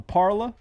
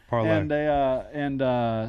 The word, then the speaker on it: parlay: Yeah, push, but it was part of a parla. Yeah. How do you say it? Parlay.